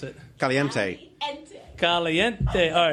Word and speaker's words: Caliente: All right, how do I pronounce it? Caliente.